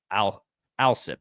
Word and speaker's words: Alsip: He said Alsip is how you say his last name.